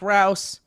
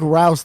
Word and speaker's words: Rouse: my good boys my name is Rouse pronounced like house nailed it Rouse the bouse can I